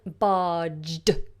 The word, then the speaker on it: barged: Now notice as well the pronunciation barged, barged. To barge in, obviously no D, but when you're using it in the way I have in the sentence, we add the D, barged.